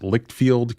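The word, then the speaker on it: Leitchfield: can do all of these things be entertained pronounced lickfield Kentucky which is in Grayson County now this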